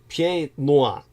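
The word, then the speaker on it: Pieds-Noirs: It's actually pronounced as Pieds Noirs. It's spelled like Piedmont. Pieds, with a hyphen, then Noirs, I believe.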